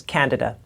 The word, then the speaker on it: candida: actually misdiagnosed excuse me the pronunciation is candida and I realize that